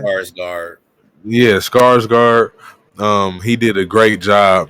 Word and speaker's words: Skarsgård: Yeah, Skarsgård.